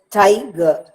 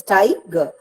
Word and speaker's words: tiger: How do I read it? Tiger. Tie receives the stress and ger is not pronounced with much force. Tiger.